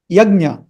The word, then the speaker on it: yajna: In Hindi, they say yajna. Yajna is the right pronunciation.